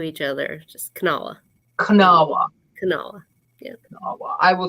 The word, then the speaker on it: Kanawha: It's Kanawha. So you just like put the K and the N next to each other. Just Kanawha.